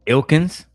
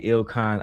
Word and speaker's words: Ilkan: Ilkins? Ali? Now you understand that they don't understand how to pronounce basic vernacular. It's clearly Ilkan Ali.